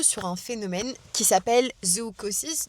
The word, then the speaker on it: zoochosis: Je suis tombée sur les réseaux sociaux sur un phénomène qui s'appelle zoochosis. Donc ça s'écrit Z-O-O comme le zoo. Chosis comme C-H-O-S-I-S. Et en fait, c'est un phénomène sociétal, psychologique qui a été remarqué chez l'humain.